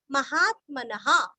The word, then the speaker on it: महात्मनः: का रस्व नीरस्व महात्मनः महात्मा का आत्मा आगे न और विसर्ग का उच्चारण ह अथवा हा महात्मनः ऋषि भी ऋषि का